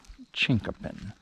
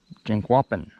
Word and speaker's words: Chinquapin: But the one thing that I remember most was how to pronounce Chinkopin. I said, "Chief Jimmy, how do you pronounce Chinkopin?" He said, Chinquapin. Chinquapin, damn it. None of this Chinkopin bullshit.